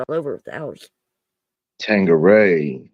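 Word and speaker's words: Tanqueray: Tangeray is how you say it.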